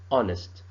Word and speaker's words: honest: Is that the H sound is not pronounced. It's a silent H.